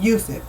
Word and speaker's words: Yusuf: Yusuf, because that's his name in how you pronounce his name, literally pronounce his name, Yusuf.